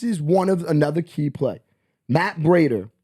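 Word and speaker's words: Breida: That plays like Matt Brader, right? No one's gonna. That's how you say his name, Matt Brader.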